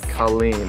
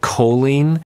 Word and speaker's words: Colleen: two L's two e's Colleen okay my sister's name is Colleen it bothers me when people pronounce it choline it's a beautiful name